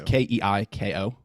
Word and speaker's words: Keiko: I say it as Kiko. It's Keiko. Kiko.